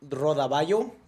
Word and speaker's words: rodaballo: So, that one's pronounced rodaballo because the double L turns into a Y.